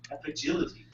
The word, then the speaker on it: Apigility: Or Apigility, or however you want to say it, I don't know. Apigility. That's how you say it.